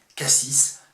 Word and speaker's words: cassis: autour de sa prononciation j'ai choisi de prononcer cassis car pour moi il s'agit bien du fruit il ne peut pas s'agir ni du toponyme ni de du dos d'âne ça n'aurait aucun sens et donc c'est bien